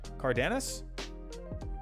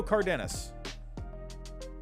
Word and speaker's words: Cardenas: there we go oliva and how do you pronounce this one it was cardanas they don't give you a pronunciation leo cardenas so uh who else did we have on